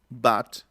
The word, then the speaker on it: but: By, but, touch. Es una vocal intermedia, ¿no? Está como entre la A y la O.